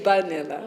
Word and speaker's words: vanilla: Well, he would say vanilla, Oh, vanilla. because Bengalis pronounce V's with a B.